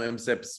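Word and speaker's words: MCIPs: standardized pronunciation uh it's an acronym we typically pronounce it mkips but since it's a ci and sip i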